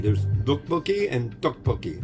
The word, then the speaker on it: Topokki: This is Topokki. So it's a soft T or a hard D is how you pronounce the TT or the DD. There's Topokki and Topokki.